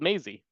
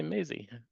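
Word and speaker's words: mazy: The shorter word for labyrinth is called Maisie, which is nice because it rhymes with lazy.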